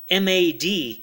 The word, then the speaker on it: M.A.D.: by U.S games actually the game is actually pronounced mad because of the periods in between the letters and that stands for